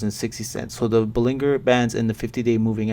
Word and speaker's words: Bollinger: and the Bollinger Bands people keep saying I'm saying it wrong it's Bollinger bullinger but either way there's